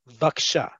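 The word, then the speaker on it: בבקשה: to say is okay we truncate the bivakasha to listen to How I said baksha okay just like it's written in the transliteration and you see in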